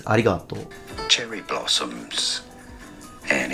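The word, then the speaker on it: ありがとう: And as I listened to it again, he actually put aspiration, he added ha. He says harigato. There is no ha, it's arigato.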